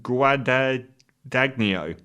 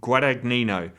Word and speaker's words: Guadagnino: now they remade that very recently by luca guadagno guadagnino i always say his name wrong guadagnino every single time i i put his film